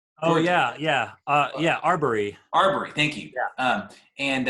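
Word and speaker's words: Arbery: shooting of um of uh ahmed as uh oppori i'm i totally butchered his name but the the guy in uh was it georgia oh yeah yeah uh yeah arbory arbory thank you um and uh i went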